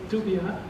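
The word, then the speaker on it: Dubya: But here, these two names looking very different, but they are actually the same person, because Texas people pronounce W sounding like Dubia, so this has been the nickname of this son Bush.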